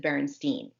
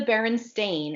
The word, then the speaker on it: Berenstain: I watched the show I would have said Berenstein yes exactly so it is the barren stain and it's spelled the last four letters are t-a-i-n not t-e-i-n yeah I thought e